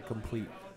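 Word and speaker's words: Compleat: lovingly explained to me in a complete is how you pronounce that and how forexians take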